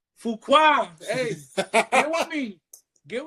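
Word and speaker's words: Fuqua: Fukuqua. Fua.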